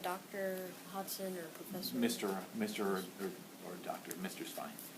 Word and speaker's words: Hodgson: So, for me, the G is silent. So It's like the Hudson River, just with an O. So it's Hodgson.